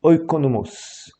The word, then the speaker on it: oikonomos: Alors le mot ici dispensateur, on le reverra d'ailleurs dans d'autres cours, c'est oikonomos. Oikonomos, comme ça se prononce, O-I-K-O-N-O-M-O-S.